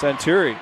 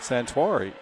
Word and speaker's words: Santuari: That's Santuri. Make that Santuari. Got a pronunciation guy, and I still missed it.